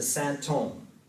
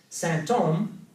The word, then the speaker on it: symptôme: It sounds just like symptom, so in French they're pronounced the same, but it also sounds like holy man, Saint Homme.